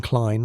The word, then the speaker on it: Klein: Next stop, Professor Klein, pronunciation Klein, like line, the musicologist who'd decoded the cipher as a smuggling schedule.